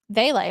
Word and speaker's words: Vele: Devon Veely or Veal? Vele.